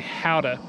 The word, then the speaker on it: Gouda: it's some other word, but it's spelt with a G, and we've always said Gouda. Kellie and I have said it for years, and then our friend Rusty told us that it's actually howdah.